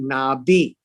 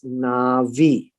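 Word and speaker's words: נביא: avi or uh and this is the word nabi in arabic we call it nabi but in hebrew is is pronounced as navi and a prophet doesn't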